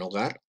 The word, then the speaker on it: hogar: es una regla gramatical la h en hogar no se pronuncia la h es muda o bien el abecedario